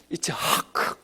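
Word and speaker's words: יצחק: 우리야 뭐 그렇게 힘들게 발음 안 해도 되고, 미국 사람들도 힘드니까 영국 사람들도 아이작하고 발음 부르기 쉽게 바꿔놨지만 지금도 히브리 사람들은 이츠하크 해야 돼요.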